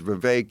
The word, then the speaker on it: Vivek: probably in his rap He says Vivek it rhymes with cake okay instead of a vague um well as I